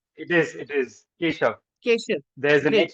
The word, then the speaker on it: Kesav: That's the way to pronounce it? Or Kesav? It is Keshav.